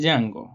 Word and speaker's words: Django: el bar y dice mi nombre es yang y no se pronuncia la d porque el tipo le